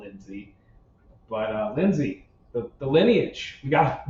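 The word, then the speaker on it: Lynsi: lineage is drying up Lindsay is it Lindsay Lindsay it's Lindsay okay so get this that's a weird spelling of Lindsay it's spelled l y NS I that is NS this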